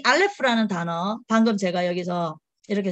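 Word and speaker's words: אלף: 요게 이게 발음이 나고 이게 리을 발음이 나고 프 이게 F예요. F 사운드. 그래서 RF 안 하고요. 이거 두 번을 굴려요. 그래서 알레프 이렇게 얘기하거든요. 그래서 알레프인데 여기 알레프가 숫자 값이 여기서는 알레프 한 글자는 1이죠. 그런데 알레프 이거는 알레프가 1이고 라메드가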